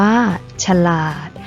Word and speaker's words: ฉลาด: นํา อักษร ต่ำ เดี่ยว เสียง ของ พยางค์ ที่ สอง จะ เปลี่ยน ไป ตาม อักษร ที่ เป็น ตัว นำ เช่น สง่า อ่าน ว่า สง่า ฉลาด อ่าน ว่า ฉลาด ขยาย อ่าน ว่า ขยาย